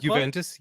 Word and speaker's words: Juventus: Juventus is that how you say the club Juventus yep yeah the entire board of directors at